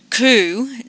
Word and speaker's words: coup: you use the word coup don't say the P at the end it's not pronounced like chicken coop it sounds more like a doves COO and just in the